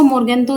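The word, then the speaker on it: Morgenthau: लिखा गया है, लेकिन यहाँ पर ये आप इसको मोर्गेंथो ही प्रोनाउंस करना।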